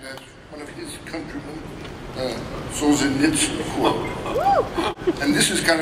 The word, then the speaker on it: Solzhenitsyn: It's a quote of Solzhenitsyn. Am I pronouncing that right?